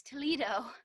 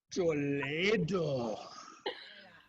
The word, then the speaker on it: Toledo: Oh, I thought it was Toledo. No, it's pronounced Toledo.